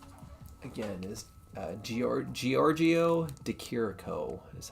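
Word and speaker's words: Giorgio de Chirico: work um his name again is uh gor Giorgio deiro is how you pronounce his name but this is an example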